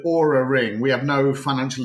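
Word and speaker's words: Oura: me what this is you spell it o-u-r-a uh the aura ring we have no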